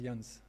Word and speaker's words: Ianja: Alors ça s'écrit, tu l'as pas affiché, mais ça s'écrit Janja, mais ça se prononce Jans, c'est ça?